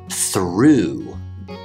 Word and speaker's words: through: food and you'll hear this in the word through through it is the exact same sound as the past tense of throw i threw the owl i went